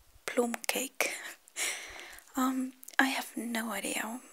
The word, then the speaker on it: plum cake: called plum cake or as we actually pronounce it plume cake um i have no